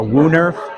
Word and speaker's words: woonerf: So there's a thing called like a WooNerf, which is out of Europe.